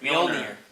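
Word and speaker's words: Mjölnir: Mjolnir. She's- Wait, I what's lost the, my hammer Wait, like, what's the hammer yesterday, so that's still pretty fresh. Wait, what's the hammer called again? Mjolnir.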